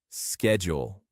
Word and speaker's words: schedule: The American pronunciation is usually with a sk sound like schedule.